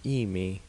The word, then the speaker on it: amia: is in my herbal we should probably pronounce Amy in two syllables as Amy this amia remya was